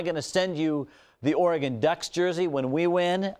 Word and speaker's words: Oregon: what conference are you in okay remember it's pronounced Oregon but that's all right you're just kind of